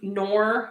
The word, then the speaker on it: Knorr: I'm actually using the cubes, but it's the same Knorr brand. I think the K is silent, but the powder kind does have a bit of a different flavor.